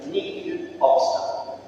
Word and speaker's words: nihil obstat: Junto a ese permiso hay una palabrita, o unas palabritas en latín que se pronuncian nihil obstat, que significa no hay nada en contra, todo está bien.